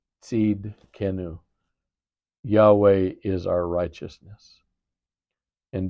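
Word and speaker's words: Tsidkenu: T S I D K E N U seed kenu.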